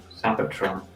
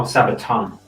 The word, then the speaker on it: Sabaton: write properly you idiot sabatron oh sabaton sorry i've been saying it wrong for like the last two hours grave digger that's it